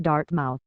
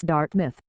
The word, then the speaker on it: Dartmouth: Dartmouth which The Truman students pronounced Dartmouth to rhyme with South it's Dart myth Wy pointed out a couple of times but they kept making